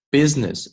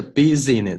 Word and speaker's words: business: marketing efforts for the coming year。好，第二句，It describes business 这个单词注意，不是 business 是 business。It describes business 这个 I 不发音 activities involved in accomplished specific marketing objectives